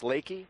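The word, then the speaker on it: Leki: I was at the Outdoor Retailer show, and I walked right by, is it pronounced Lakey? Yeah. Lakey. Yeah.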